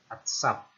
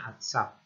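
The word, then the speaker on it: עֶצֶב: Ini ayin, ini silent letter. Nah, vokalnya saja, ini vokal A, ya, vokal A. Kemudian ini sade, sade itu sates ya. Kemudian ini vokal A. Nah, kemudian ini bet tapi tanpa titik, jadi lembut ya, V ya. Atsaf. Jadi bacanya atsaf.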